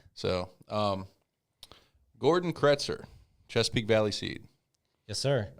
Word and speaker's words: Kretser: right so um gordon kretzer chesapeake valley seat yes sir uh you pronounce my name my last name correct that's it's a big one huh how else do they pronounce it kreitzer uh usually there's some